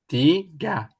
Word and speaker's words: tiga: Diva tiga tiga. It's actually t so you pronounce ga t. Oke. Tiga tiga. Oke. Di ti tiga can jump. Yes. Tiga. That's right.